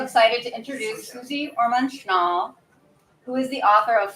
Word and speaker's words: Schnall: always get nervous with pronunciation. I know. Susie, Orman, Schnall. Okay. Schnall. Orman, Schnall. Okay, I'm glad in my mind I had that, but now I'm glad you said it. Yeah. Susie Orman Schnall.